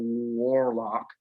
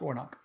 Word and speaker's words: Warnock: i think that rafael warlock is that his last name warlock warlock i think i got it warlock yeah yeah i'm pretty sure it's pronounced warnock yeah he's a warlock